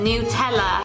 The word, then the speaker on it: Nutella: Oh, don't forget the Nutella. That's how it's pronounced, by the way.